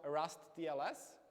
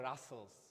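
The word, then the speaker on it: rustls: replacing open SSL so does anyone heard about rust TLS so it's uh actually it's pronounced Russel it's quite weird pronunciation yeah so Russel uh is a the reimplementation of op SSL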